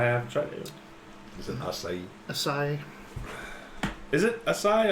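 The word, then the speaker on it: açaí: The but it's pronounced acai. acai. Acai. Acai. It's Uh, Portuguese.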